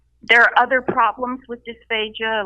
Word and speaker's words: dysphagia: So explain dysphagia, and am I pronouncing that right?